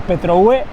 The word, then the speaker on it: Petrohué: The truth is that this, together with Los Saltos del Petrohue together with Los Saltos del Petrohué, with an accent on the "e", are being one of the most beautiful places we have been.